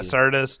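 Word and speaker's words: Sirtis: Serina Sarah Merrell I'm Richard Curtis I believe syrtis you've been saying it wrong all weekend but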